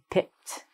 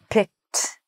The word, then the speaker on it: picked: We have to say picked. I picked this one. So we write it like an ED, but it sounds like a T sound. So we say picked.